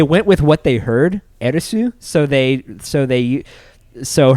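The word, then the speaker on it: エアリス: a-e-r-i-t-h but that's because her name said in japanese is arisu and so and so it's like and there there is no th sound in japanese i don't think so you're i think you're right on that they don't have like a th or something something along those lines not not like we do in english yeah so whenever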